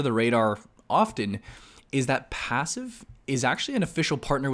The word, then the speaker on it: Passiv: a little demo here of a platform called passive and this is their website I will link